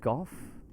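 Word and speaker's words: Gough: So Gao's pronounced Goff. That's the one, Gao. Smaug is pronounced Smau.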